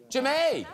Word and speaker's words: Jemay: Do I pronounce this Jeme? Jemay! That's Jemay.